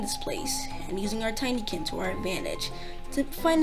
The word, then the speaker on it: Tinykin: see all the things you'll do with the tinkerine i mean the tiny kid oh i've been pronouncing it wrong the entire time it's not tinky and it's the tiny kin so i was right that time i said